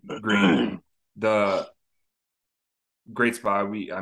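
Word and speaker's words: Gruene: jail or something by grun Hall um gral did I pronounce that right uh green the great spot we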